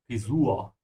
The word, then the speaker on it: Frisur: Yeah, there's no umlaut here, so maybe you're overcompensating. Frisur.